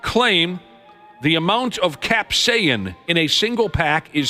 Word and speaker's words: capsaicin: Denmark's Ministry of Food announced they've pulled them for having too much capsaicin, is how you say it.